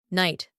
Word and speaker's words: night: Night, night. There we have two silent letters.